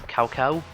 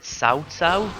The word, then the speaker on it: Cao Cao: Let's see, here's Cao Cao. Actually it's pronounced Cao Cao, but I believe right up till Dynasty Warriors 7 they called him Cao Cao, so I'm just going to keep calling him